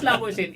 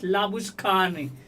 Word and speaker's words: Labuschagne: So similarly, for example, Manas Labuschagne, it's not Manas Labuschagne, it's Manas Labushkhane.